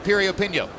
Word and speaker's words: Piriyapinyo: Once again, the name begins with a P, but it's pronounced Piriyapinyo.